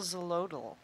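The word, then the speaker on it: Xolotl: very good question because i couldn't even figure out how to pronounce it until he told me like 10 times x o l o t l it's very cool his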